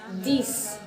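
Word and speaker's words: dix: And in 6 and 10, you have to keep in mind that it is spelled as S-I-X, D-I-X, but it becomes sis, like S-I-S, D-I-S, sis, this, not six, X sound nahi aayega, sis, this, okay?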